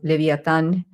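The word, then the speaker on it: Leviathan: these kind of energies again as this one again as um um let's say leviaan or leviaan I I love to pronounce it in in Latin as leviatan this is why sometimes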